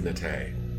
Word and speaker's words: Nate: So I apologize publicly, and everybody, just so you know how to pronounce her name correctly. It is Nate.